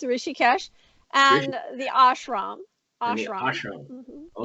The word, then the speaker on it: Rishikesh: How would I correctly pronounce it? Rishikesh is just as you said it. It's Rishikesh, and the ashram.